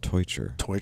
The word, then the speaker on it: Teutscher: that was real good marco's last name is pronounced torture yeah he likes to